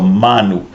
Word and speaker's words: manu: So I'll put a macron up here over the a, and it's as in the word Samoa. the long A, so Manu.